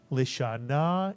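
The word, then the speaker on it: לשנה: Remember, the shva under the lamed is pronounced because it's under the first letter of a word. And therefore, the first syllable would be lisha, mitsuyan. And the second syllable, na, mitsuyan. Put the word together. Lisha na is correct.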